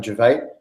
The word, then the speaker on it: Gervais: So top of my head, straight first person that popped up was a sports psychologist called Michael Gervais, spelled like Ricky Gervais.